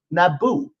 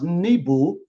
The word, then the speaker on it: Nebo: which is located atop Mount Naboo or Mount Nebo or knee ball however you want to pronounce it but it had a